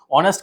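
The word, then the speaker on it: honest: अब इसके बाद देखिए 7th वाला क्या दे रखा है, ऑनेस्ट का क्या होगा, ऑनेस्ट में क्या आ जाएगा,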